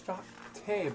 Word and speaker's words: Shaktu: It's Shakte, but it's spelled Shaktu.